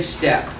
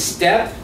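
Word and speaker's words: steppe: the whole idea is step we can yeah it's spelled funny s-t-e-p-p-e but just go ahead and take off the excess pe it's the same idea step and so this is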